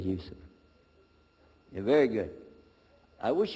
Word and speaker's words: Yusuf: but we'll work on itah my name is Yousef can you say Yousef you said Yousef you're very good I wish you'd teach my wife she keeps mispronouncing it she calls me useless alhamdulillah now how many of you were in